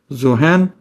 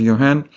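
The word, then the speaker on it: Johann: So well Mendel uh was born raised and he resided in that part of Europe where this spelling does not get pronounced as Zohan. It is pronounced as Yan.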